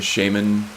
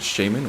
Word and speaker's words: shaman: you guys pronounce it do you pronounce it shaymin or shaman i've heard it both ways and i think technically they're both correct this guy's a light